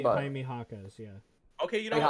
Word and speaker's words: Jaquez: And Jamie Jakes Jr. I don't know how to say his last name, but Jaime Jaquez, yeah. Okay, you know Jaime what? Jaquez.